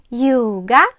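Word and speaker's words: ljuga: якщо брехати буде юга брехати юга вимовляємо безе Юга дом кунде ін-та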